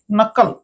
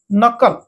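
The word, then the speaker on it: knuckle: নট অর্থ গন্টা ওকে তারপর দেখুন কে সাইলেন্ট করে এন ইউ সি কে ওকে নকল নকল আঙ্গু সন্ধি নকল এইটা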